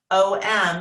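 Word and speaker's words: aum: us forth is within you the ohm sound om is how we say it but it's spelled a-u-m it starts at the back of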